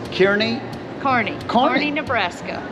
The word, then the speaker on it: Kearney: say so that it's kearney carney courtney nebraska pronounced carney nebraska yeah and it looks like kearney is the way it is but it is pronounced carney so wow yeah make